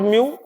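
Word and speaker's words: mu: And what is म्यू? This term is pronounced as म्यू।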